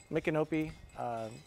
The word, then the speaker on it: Micanopy: the town and this is how you say it I keep screwing it up micanopy this is great wait